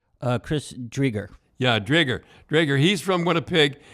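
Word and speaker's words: Chris Driedger: if they play the backup, how do you pronounce his name? Chris Drieger.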